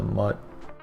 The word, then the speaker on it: mut: the const and the mut I know it's mute but like it's it there's no e so it's mut you shouldn't have been